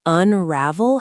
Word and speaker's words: unravel: And notice that unravel has the stress on the second syllable.